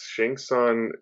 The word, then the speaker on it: Shang Tsung: yes, Shang Tsung, played by Carrie. I want to say his name phonetically.